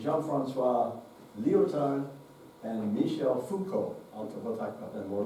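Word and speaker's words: Foucault: um ja D Jean Fran Leo and Michelle Fuko we'll talk about that more later Three French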